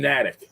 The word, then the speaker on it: Natick: I mean, he's in Natick. Is that how you pronounce it? Oh, he's in Natick.